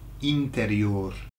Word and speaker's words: interior: then you would use interior. Interior. So it's interior. It is the same word. They just have to, you have to pronounce it in a Spanish way, obviously.